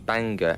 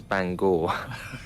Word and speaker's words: Bangor: probably the easiest one uh well i kept pronouncing banger as bangor there's quite a few people were picked up